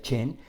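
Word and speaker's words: חן: palabra en sí es Gen con j se pronuncia Chen para considerar o llevarnos a esa palabra gracias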